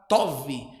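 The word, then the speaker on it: טוב: Em hebraico significa a palavra tov. É assim que se pronuncia bom, significa tov, agradável, excelente, benéfico.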